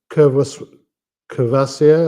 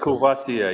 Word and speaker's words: Courvoisier: And the other big brand is Courvoisier, or how I don't know how you pronounce it. Courvoisier, yeah.